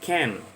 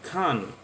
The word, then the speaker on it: can't: bisa terbang I cannot ini sering juga disingkat dengan Ken yang atau kalau di British dia bacanya Khan a penguin konflik berarti